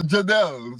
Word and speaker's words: Jadel: so, so Jadel.